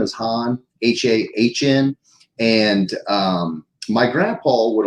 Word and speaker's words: Hahn: would have even knowing how the heck to pronounce it, man. So, but yeah, last name is Hahn, H-A-H-N.